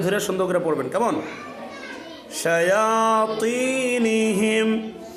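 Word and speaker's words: شياطينهم: শায়াতিনিহিম, তটা মোটা হবে।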